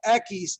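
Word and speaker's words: equis: Ekis. Some of you are just shaking heads out there and in denial. But the thing is, you've heard of the beer called Dos Ekis. Yeah, 2 X's, right?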